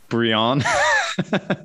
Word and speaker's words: Brion: So for any of the other non French speakers out there, it's pronounced Haute Brion. Yeah, but in French, Aubryon sounds nothing similar, right?